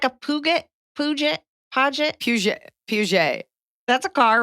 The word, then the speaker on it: Peugeot: I mean, 2015 there's like a Puget.